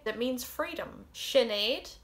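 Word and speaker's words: Sinéad: sercia some people would say it means freedom shinaid it's apparently the irish form of jane or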